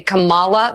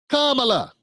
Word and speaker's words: Kamala: They purposefully pronounce her name wrong. They say Camala. They do it all the time. It is on purpose. She said it wrong right there. That's her name. Kamala.